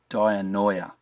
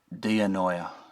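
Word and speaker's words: διάνοια: So 1271 is dianoia.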